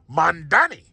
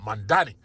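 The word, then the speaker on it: Mamdani: the wall, and now you're facing Mandani.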